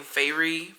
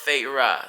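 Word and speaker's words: Feyre: the main character's name yeah and you know it's spelled f e y r e so I was saying fairy fairy and then literally like I was like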